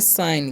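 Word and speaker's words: sign: नहीं सीखते हैं तो एस आई जी एन है ना तो इसे हम पढ़ेंगे साइन क्या पढ़ना है साइन यहां पर जी साइलेंट होता है ठीक है अब यहां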